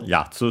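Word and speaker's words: やつ: Accented on the first syllable yatsu.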